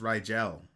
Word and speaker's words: Rigel: is Ebert Orion Balthazar Orion Vader hmm that's pronounced Rigel what does that mean Rigel yeah it's one of the stars in the